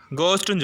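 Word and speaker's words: ghost: இருக்கும் எக்ஸாம்பிள்ஸ் பாருங்க கோஸ்ட் இதுல மிடில்ல வந்து ஹெச் வருது நம்ம ஹெச் சைலெண்ட்ன்னு குடுத்துட்டு கோஸ்ட்ன்னு சொல்றோம் சரிங்களா ஆ இனிஷியல்ல ஹச் வருது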